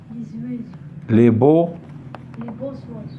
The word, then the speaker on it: les beaux oiseaux: Wa des oiseaux, et on va faire la liaison entre le X et le Wa. Ça va nous donner Zoa.